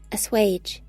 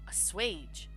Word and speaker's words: assuage: Assuage. Assuage.